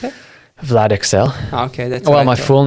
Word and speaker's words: Vlad Ixel: So how do you pronounce it? Vlad Ixel.